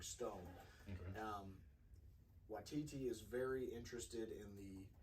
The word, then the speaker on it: Waititi: I always feel like I butchered it. I think it's Taika Waititi, right? Waititi.